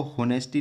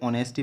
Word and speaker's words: honesty: यहाँ मैंने बताया था कि इसको होनेस्टी न पढ़ के ऑनेस्टी पढ़ते हैं, यहाँ एच साइलेंट रहता है।